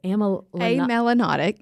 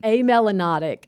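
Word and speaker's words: amelanotic: it said because this I always say it wrong but it's am Melanotic. A melanotic.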